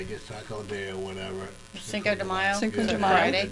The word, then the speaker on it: Cinco de Mayo: Cinco de Mayo? How do you pronounce it? Cinco de What? Mayo. Gay Mayo? De Mayo. Day. Oh, Day. de Mayo. Well, it's De almost Mayo.